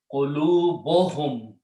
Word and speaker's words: qulubuhum: Okay, and when you combine, pronoun whom does not change, but on the first noun, one dhamma goes away, and pronunciation is qulubuhum, their hearts.